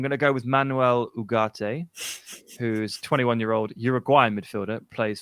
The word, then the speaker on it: Ugarte: Found a video of him pronouncing his own name, and he seems to miss out the G. He says Manuel Ugarte, which is, I presume,